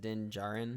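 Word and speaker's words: Din Djarin: because i wasn't sure yeah then is it din jaren yeah you don't pronounce the d in the second in the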